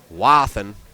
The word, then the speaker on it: Wathen: And Mark Wathen. I'm gonna go ahead and say Wathen, American style. Wathen.